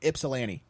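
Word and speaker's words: Ypsilanti: it's Yip it starts with why but it's pronounced y ipolani don't know why it's just how it is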